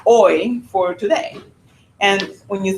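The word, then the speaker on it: hoy: And when you think about that word oi, I always say, you know, like oi o because there the h is silent, right? No pronounce the h and say oi.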